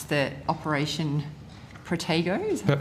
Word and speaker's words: Protego: Since, I don't know how you pronounce the Operation Protego, is that right? Yep, Protego.